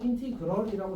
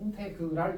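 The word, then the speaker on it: integral: 보통 인티그럴이라고 제일 발음을 많이 합니다. 알았지? 자기는 이제 그 브리티시 스타일이라고 인테그랄 이렇게 하는 사람이 있는데 인테그랄 합시다.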